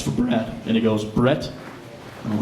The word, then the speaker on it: Brad: so like Chris said my name is Brad but often times when I introduce myself to people think that I'm saying my name's Brett and I don't know